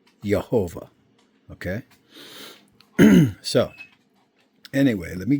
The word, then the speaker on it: Yehovah: If the dot was midway in that Vav, it would be the U sound, but it's on the top, so that's the O sound.